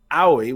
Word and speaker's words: Aoi: also had to google how to pronounce owie which is aoi because i couldn't figure